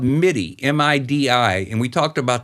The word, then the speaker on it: MIDI: correct yeah am i some people pronounce that meaty i've always pronounced it midi m-i-d-i midi some people say